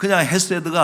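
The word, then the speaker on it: חסד: 헤세드, 이렇게 오른쪽에서부터 이렇게 헤세드라고 읽는데, 근데 이게 그냥 헤세드가 아니고, 사실은 저 발음이 어떻게 읽냐면 헤세드. 같이 한번 읽읍시다. 헤세드. 그냥 H가 아니라, 그러니까 이게 지금 히브리어의 그 발음의 특징이기도 하고, 아마 독일어라든지 그 동유럽 이런 쪽에 많이 남아 있어요.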